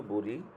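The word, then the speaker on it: باء: বা হচ্ছে যে আমরা বা দুইটা ঠোঁট একসাথে লাগাবেন, লাগিয়ে হচ্ছে এই বা, বা, বা, বা, বা, জি, বা, এরকম আপনারা দেখেন বা, দুই ঠোঁট একত্র করে বা, বা, বা, আলিফ, বা, বা।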